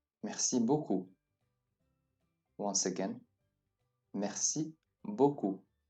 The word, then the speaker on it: beaucoup: Notice that the EA followed by a U is always pronounced like an O, with straight lips. O. Beaucoup. Please note that the P at the end is not pronounced, as there is no vowel, such as an E behind it.